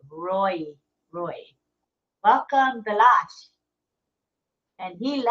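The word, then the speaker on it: Ray: up the room bash Roy it's spelled r a y but he he pronounces it Roy Roy welcome bash and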